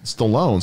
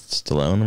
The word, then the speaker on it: Stallone: all that i guess it's stallone rhymes with alone um which he's going